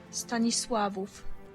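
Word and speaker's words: Stanisław: Stanis Stanis Stanis that is a Polish person's pronunciation Stanis swav Stanis there you go okay anyways The Liberation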